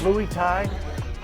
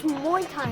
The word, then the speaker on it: Muay Thai: fist fights require nutrition are we saying it right louie tied it's muay thai patty's getting married in